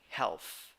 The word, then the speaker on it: health: 6 letters, 5 sounds, 1 syllable. How many vowels? 1. E. Th sounds th. So pronunciation health, health.